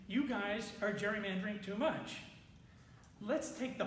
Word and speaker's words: gerrymandering: Gary, it should actually be called gerrymandering, not gerrymandering. They messed up the pronunciation somewhere along the line.